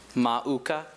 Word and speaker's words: mauka: Are there any other pronunciations? Just the one. Mauka. Okay. What's the uh language of origin? Hawaiian, which should help him out. That's a very phonetic language. Everything spelled how it sounds.